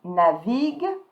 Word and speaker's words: navigue: So plural form, you add ENT, but you don't pronounce it, okay? So you're going to stop at the G. Il navigue sur Internet.